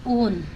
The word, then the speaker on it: own: तो ओन, ठीक है, ओन इसको बोलते हैं OWN को, ओन मतलब स्वयं, तो ये W यहाँ पे साइलेंट है, इसको बोलते हैं ओन।